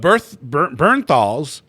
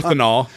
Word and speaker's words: Bernthal: But Bernthal's. You always say it wrong. Berthenol.